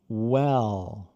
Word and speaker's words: well: Mas e tente não fazer, porque o que você está fazendo com well, você está fazendo em inglês, isso é W, não tem W no final. É well.